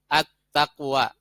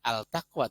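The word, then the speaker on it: التقوى: as-syamsiyah dan gunakan al-qamariyah Attaqwa ada filmnya lebur masuk ke huruf tak karena tak disini adalah huruf Syamsiah makan bacanya bukan al-taqwa tapi at-taqwa begitu ya kemudian Azzam nama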